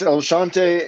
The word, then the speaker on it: El Chante: month of september at el chante is that correct is that how you pronounce that it's el shante and then there's a